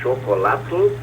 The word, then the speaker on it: chocolatl: O chocolate também veio do nahuatl, e eles pronunciavam igualmente chocolatl, e com esse TL que lembra a palavra atlas, chocolatl, o espanhol grafou choplat, todo mundo copiou do espanhol chocolate, né?